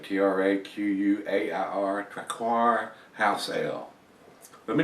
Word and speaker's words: Traquair: So, if you've had this one, and like I said, I'm probably butchering after the letter, Traquair is how I pronounce it, Traquair, Traquair House Ale.